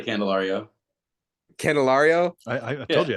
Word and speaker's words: Candelario: say your last name again you could say candelario candelario I I told you I had it